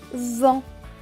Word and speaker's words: vent: en buvant le thé à la fin est écrit en bleu et ne se prononce donc pas donc ce mot va se lire dans le vent le vent plus loin une chaîne